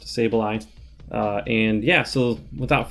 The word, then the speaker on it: Sableye: and someone else asked about sableye it is pronounced sableye uh and yeah so without further ado let's